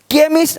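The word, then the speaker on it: chemist: हो गया बेंच ये तो पता साउंड आपको केमिस्ट अब इसको चेम नहीं पढ़ेंगे चेम चोपड़ा को कोपड़ नहीं पढ़ेंगे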